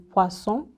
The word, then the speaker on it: poisson: Then when you see an OI, it's pronounced usually as wa, like in poisson, fish, or trois.